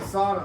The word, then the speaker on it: sauna: So, I got to use the sauna. I got to finally use the sauna. Sauna. You say sauna. Americans say sauna, but you pronounce it sauna.